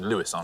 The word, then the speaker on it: Louis: he is the man what you always call him louis armstrong he's actually lewis lewis isn't he yeah um he would have scored you 68. lewis i always say louie